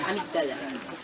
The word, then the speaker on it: amygdala: pronounced amygdala.